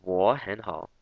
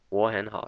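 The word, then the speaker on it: 我很好: So they're all downward up pronunciation, so it's 我很好, 我很好.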